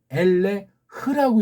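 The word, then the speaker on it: אֵלֶּה: 이게 어떻게 엘레라고 읽냐고요. 얘네 거를 참고한다고 하면 엘레흐라고 읽어야 맞습니다. 엘레흐.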